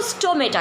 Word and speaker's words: stoma: हैं तो हम इसको स्टोमेटा कहते हैं. लेकिन अगर हम सिंगल इसको यूज़ करेंगे, सिंगल अगर स्टोमेटा की बात करेंगे तो हम इसको प्रोनाउंस करेंगे स्टोमा. That is स्टोमा, single, plural, स्टोमेटा.